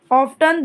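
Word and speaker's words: often: सकते हैं ध्यान रखिए आप दोनों इसका प्रोनंसिएशन कर सकते हैं मतलब ऑन ऑफ्टन दोनों बराबर है मतलब दोनों सही हैं बराबर नहीं कहेंगे दोनों सही है दोनों का उच्चारण ठीक है कंफ्यूज नहीं होना ऑफ्टन भी ऑफ्टन भी ठीक है और ऑफ भी ठीक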